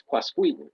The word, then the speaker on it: Quasqueton: blah and it's like how do you pronounce the name of your town if she laughed and she said no that's fine it's quasqui oh it's okay I